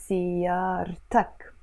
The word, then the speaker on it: سيارتك: That's why I highlighted this T, because alone this word سيارة is silent, you see? It's silent. But the moment I attach this possessive ending to it, I'm gonna pronounce it. So we say سيارة, but we say سيارتك.